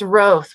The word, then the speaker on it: Roth: today yeah thank you it's roth with a long o thank you very much